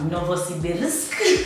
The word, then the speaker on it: Novosibirsk: Petersburg, Siberia, Novosibirsk, I have to say it properly, Rostov-on-Don.